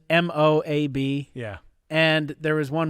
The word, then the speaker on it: Moab: Moab, I've heard people pronounce that pretty funny because it's just Moab.